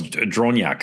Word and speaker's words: Dronjak: It's Dronjak, right? Very good. Very good. That's actually the best pronunciation I heard.